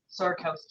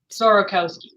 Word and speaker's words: Sorokowsky: it up so my first name is sarkowski yeah sir say again sorokowski sorokowski okay I was close and and of